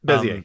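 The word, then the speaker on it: Bézier: And it's pretty similar to, I'm not sure how to pronounce it. I think it's Bezier curves. Is that how you say it? Bezier, yep.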